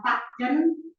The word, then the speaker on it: Bacen: Metodenya itu adalah Pak Jen, Bacen tulisannya ya, bacanya Pak Jen. Tulisannya Bacen. Bacen itu adalah 8, Pak itu 8, Jen itu semua.